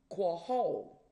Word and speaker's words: Qahal: Now, in Hebrew, it is called quahol. And when I say some Hebrew words, I will let you know what it means and I'll spell it out for you. Now, quahol is Qahal and is also translated